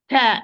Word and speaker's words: ت: Ta is whispered, mahmus. Dal is not whispered, it's apparent majhur. So this is the main difference. But both are light, so the position of the tongue will be almost the same. It's at the same. Difference how I open. This is with qalqala and this is with hams. Do not apply hams here with dal. Do not apply qalqala with ta also.